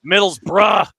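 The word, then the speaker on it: Middlesbrough: start the season at Middle's burrow because I refuse to use that stupid pronunciation where you don't use half the letters midd bruh um midd midd bruh yeah I'm out here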